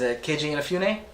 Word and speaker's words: Inafune: His name is Keiji Inafune. Yep. Am I pronouncing that correctly?